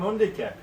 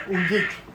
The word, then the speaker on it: Undique: That's me, Christian, from Undique. Or Undique. You can pronounce it in two ways. It's English and Latin name.